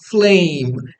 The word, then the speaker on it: flame: é em inglês Flame Flame esse e final é mudo Flame m é o som apenas do M final ó M Flame Ok passando então